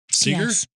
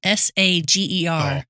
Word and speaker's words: Sager: Seager. Sager. Spell it again. S A G E R.